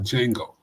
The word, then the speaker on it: Django: The D is silent like Django, right?